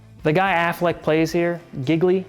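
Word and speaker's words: Gigli: guy Affleck plays here giggly pronounce it rhymes with really right he's a very offbeat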